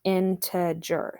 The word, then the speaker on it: integer: have positive numbers and we have negative numbers integers integers now it's it's spelt like this and it's pronounced into jur so like think about it for a minute